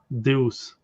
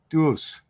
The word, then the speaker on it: Deus: Yeah, I say in French. Deus. Dus. Okay. That way I can Yeah. And it's not French. It's Latin. Latin Roman Roman language.